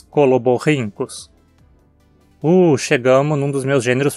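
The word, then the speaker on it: Coloborhynchus: E seguindo o mesmo padrão, temos coloborrincus.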